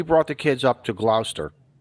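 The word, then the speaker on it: Gloucester: We brought the kids up to Glouster. Glouster. Sorry. What? Glster. Glower. How do Okay. How Okay. H how does a Connecticut guy supposed to annunciate this word? Glouster.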